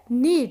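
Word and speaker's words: knead: में बोला जाता है नीत के साइलेंट होता है नीड इसके सही प्रनंसीएशन क्या है नीत एग्जांपल देखो आता नीड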